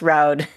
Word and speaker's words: Roud: music for teaching us how to pronounce roud it rhymes with loud his name is not rude we've learned we we